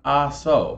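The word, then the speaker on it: Ah-So: All right, the next question is, what corkscrew, sometimes called an ASO, by the way, that is spelled A-H-S-O, right? ASO.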